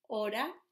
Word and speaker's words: hora: would be saying, ¿qué hora es? So we know how to say qué, como qué tiempo hace hoy. Hora, we have a silent letter here, hora es.